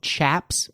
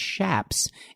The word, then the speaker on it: chaps: be confused with shops a lot of people call them chaps but they're actually pronounced shaps and by Nature the